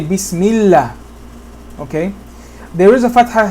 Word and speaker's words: Allah: Lam in general with the fatha is pronounced la. But in the name of Allah, it's pronounced Allah. Unless a kasra comes before the name of Allah, meaning that this Bismi is connecting to this name Allah. Okay? And in this situation, we say Bismillah.